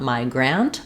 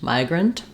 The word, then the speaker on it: migrant: I don't say an A vowel here. It's not migrant, but rather a reduced vowel in that second syllable, grunt. So there's a schwa. I've written it for you here with no vowel at all because that's very reduced. So we're kind of going right from the gur to the n, grunt, migrant.